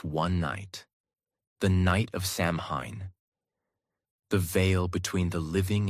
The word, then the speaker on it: Samhain: And the most powerful day of the year was October 31st, the night of the festival called Samhain, pronounced Samhain.